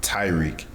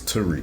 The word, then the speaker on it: Tariq: they say so they they pronounce it like Tyreek like like yeah like Tyreek Hill you know I mean like like how he would spell it but it's it's Tariq Tariq yeah you mean but